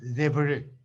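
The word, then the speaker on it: Devereux: Es lo que un autor, qué sé yo, francés, alemán, no sé, y americano, Debreu, se escribe Debereus con X.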